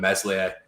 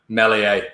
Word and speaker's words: Meslier: not pronouncing melies right i keep calling him meslier um but yeah mellie a uh 100 kiko ain't